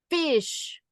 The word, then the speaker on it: Ghoti: You know how it's pronounced? Fish. Fish.